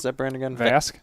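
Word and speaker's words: Vasque: How do you pronounce that brand again? Vask? Vask.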